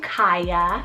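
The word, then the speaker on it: Kaiya: left on the list i have the name kaya spelled k-a-i-y-a kaya this one's latin scandinavian and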